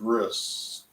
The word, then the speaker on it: bris: day boy is called a bris which means Covenant because the word ends with a tooth without a dagash and then Ashkenazi Hebrew a tooth without a guess is pronounced as an S sound whereas in Safari Hebrew